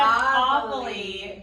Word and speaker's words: Aveli: They said Aveli. The idea behind pronouncing it is that you're saying, ah, my cellulite is gone.